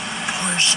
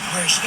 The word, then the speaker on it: Porsche: Porsche I say Porsche. Xavier says Porsche. To me the word Porsche would be spelled p o r t i a if you're going by the English pronunciation.